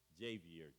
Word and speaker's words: Javier: It's spelled Javier, the way you would spell Javier, but it's pronounced Javier, Javier.